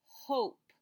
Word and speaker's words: hope: tap it out oh hope and did you notice that I didn't say anything when I got to the e because the e is silent so this new word says hope like I hope you